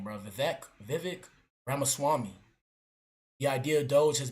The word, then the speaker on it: Vivek Ramaswamy: It will be led by the businessmen, Elon Musk and Vivek, how you pronounce his name, bro? Vivek Ramaswamy.